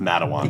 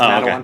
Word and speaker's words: Matawan: I think it's pronounced Matawan. Yeah, but yeah. Of course it is. Yeah. I've lived here my whole life. It's Matawan. Okay.